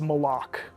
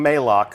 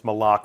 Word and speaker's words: Malok: has left uh and that is malok malok right official pronunciation confirmed so if you hear anybody saying Moc send them right here to the archive of this stream our design leaders told us it's malok we actually have a